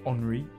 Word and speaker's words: Henri: Well, I guess it would be pronounced Henri Autodrome.